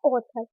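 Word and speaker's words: author: और डब्ल्यू हो तो ए को प्रोनाउंस करेंगे ओ के रूप में। जैसे एग्जांपल है ऑथर, सबसे पहले क्या आ रहा है ए और उसके बाद क्या आ रहा है यू, तो आप क्या पढ़ेंगे ऑथर, ओ के रूप में प्रोनाउंस करेंगे।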